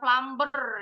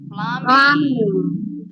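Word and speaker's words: plumbing: yang disebut dengan plumers bacanya bukan plber ya PL Nahanya disebut pluming tulisannya pluming bacanya bukan pluming b-nya silent pluming yes oke kita lanjut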